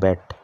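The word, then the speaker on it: bat: বি এটিবি এডি নাই আমরা ব্যাড উচ্চারণ করি এটা ব্যাড না এটা হল ব্যাট ব্যাড দিয়ে কিতা করা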